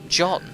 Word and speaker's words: Can: Can is pronounced like John.